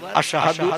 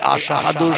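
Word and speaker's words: أشهد: এই আশহাদু শব্দটা শিন অক্ষর দিয়ে উচ্চারণ করতে হয়। তিনি শিন অক্ষর উচ্চারণ না করে সিন অক্ষর উচ্চারণ করতেন।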